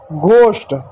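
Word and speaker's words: ghost: हावर, ऑनेस्ट, घोस्ट, घ से घ, एच साइलेंट, ठीक है।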